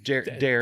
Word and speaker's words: Darin: Darren, Two syllables. There's an R in there.